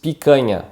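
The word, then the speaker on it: picanha: the other word is pikana so the syllable ca here which will be ka it makes with the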